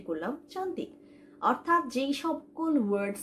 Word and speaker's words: suka: অথবা আমি বলতে পারি সুকা, মানে হচ্ছে আমি পছন্দ করি। সুকা মিন্স পছন্দ করা। সুকা, এস ইউ, সু, ওকে? So that's how we pronounce the ইউ।